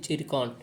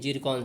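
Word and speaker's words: Zircon: इसको पढ़ते हैं जिरकॉन। ठीक है, ये लिखा हुआ है कुछ, लेकिन इसका प्रोनाउंसिएशन करते हैं जिरकॉन से।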